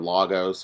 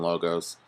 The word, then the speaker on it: logos: ethos pathos and logos sometimes you hear them pronounced pathos or Lagos or something but I tend to pronounce them all with a long vowel sound at the end ethos pathos and logos and the torkoal appeals